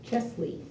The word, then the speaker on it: Chesley: Chesley. Chesley, thank you. I said it and I thought it sounded funny. It's spelled both ways in the There's an actual grant.